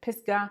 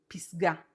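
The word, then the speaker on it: פסגה: You may pronounce it pisgah, it is pisgah, the peak, the top of the mountain.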